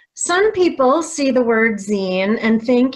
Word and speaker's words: zine: people see the word zine and think it's pronounced sein so if you did too don't worry you're not alone but it's actually pronounced zine as in magazine or fanzine scenes are similar to